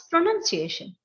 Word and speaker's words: pronunciation: Okay, Yeah, the first thing, it's not pronunciation, it's pronunciation.